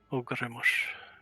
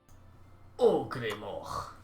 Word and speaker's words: Ogremoch: Ogremosh. Okay. Ogremoch. If you're going for more of a Dutch pronunciation, all sort of mixed in with English.